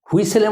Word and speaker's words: whistle: হুইসেলের মধ্যে কি রয়েছে স্পেলিংয়ের মধ্যে, হুইসেল, এই যে টিটা সাইলেন্ট, এই জন্য স্পেলিংটাকে নিয়ে আসা হয়েছে, টিটা হচ্ছে সাইলেন্ট, তাহলে কি হবে হুইসেল, WHISTLE, হুইসেল।